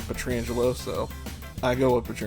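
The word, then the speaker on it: Pietrangelo: bruce boudreau calling him peter angelo maybe that's how you actually say his name but everybody's always said petrangelo so i go up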